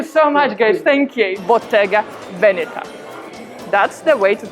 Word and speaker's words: Bottega Veneta: interesting thank you so much guys thank you bottega venita that's the way to pronounce this brand and as usual bonus section